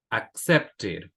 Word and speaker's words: accepted: Killed, accepted, needed. En los últimos dos pronuncio la e porque aquí hay una t y acá hay una d.